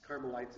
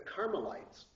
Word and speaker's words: Carmelites: dialog of the carites carites is c a r m l i t s uh and a u